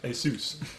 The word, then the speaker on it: Asus: Asus all right so Asus yeah ASUS ASUS as long as it's Seuss Seuss like Dr Seuss not like sus or not like Pegasus so a lot of